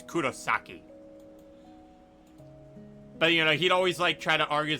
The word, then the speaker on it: Kurosaki: it ich icho um Kurosaki which is like wrong yeah that is wrong wait no it's a Kurosaki and it's like no it's Kurosaki but you know he'd